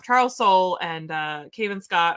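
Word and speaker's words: Soule: soul or Charles soul I always say his name wrong because that e always throws me off Charles soul and uh Cave and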